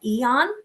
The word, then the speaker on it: Aeon: It's called Eon, but it's spelled AEON, and it's an anti-inflammatory.